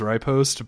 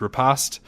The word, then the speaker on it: Riposte: We also have Riposte or Riposte. Someone sent us the accurate way of pronouncing that word, and I always throughout my life thought it was Riposte, but I apologize. So I guess it's Riposte.